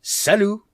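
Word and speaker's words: salut: shops i just find it easier to say salu which is the equivalent of the italian ciao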